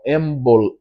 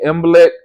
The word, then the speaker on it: Imbolc: But, you know, so the spring starts with that one called Imbolc, I guess is how you say it, and